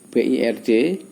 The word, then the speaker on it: bird: Tapi kalau yang seperti BIRD, burung, bacanya bird. Jadi ada I yang dibaca E, seperti hanya bird, burung.